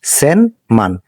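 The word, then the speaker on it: 千万: এবং এই পুরাটাকে আমরা বলি মান তো এটার উচ্চারণ হবে সেন মান সেন মানে এক কোটি সবসময় একটা বিষয় খেয়াল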